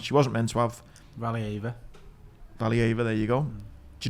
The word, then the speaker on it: Valieva: So there's a banned Russian skater called Kamila Valieviev. I think that's how you say her name. Anyway, she was banned for having a drug in a system that she wasn't meant to have. Valieva, there you go.